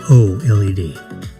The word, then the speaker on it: OLED: That's LED with an O in front of it. OLED.